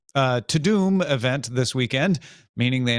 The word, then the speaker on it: Tudum: Netflix held its Tudum. That's just how they want us to pronounce it. I've given up. Tudum event this weekend, meaning